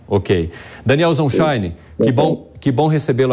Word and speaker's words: Zonshine: paraa gente primeiro a forma correta de se pronunciar o seu sobrenome meu sobrenome é zonshine zonshine OK Daniel sonshine que bom que bom recebê-lo aqui na programação